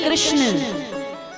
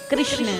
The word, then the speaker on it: कृष्ण: आप सही से कृष्ण नाम का उच्चारण करते हैं ना तो आपकी जीभ टेढ़ी होती है। करिए, कहिए कृष्ण, जोर से कहिए कृष्ण। हुई ना, टेढ़ी हुई ना। और जिसकी नहीं हुई भैया उन्होंने गलत बोला।